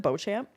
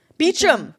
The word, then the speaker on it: Beauchamp: Is it Beauchamp? Beecham. Beecham. It's spelled so differently.